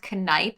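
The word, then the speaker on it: Kneipp: up and it says for german it is pronounced canipe i always thought it was nape so i think i've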